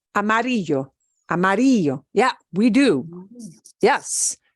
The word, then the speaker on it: amarillo: Oh, ends in a vowel. We should be punching the second to the last syllable. Amarillo.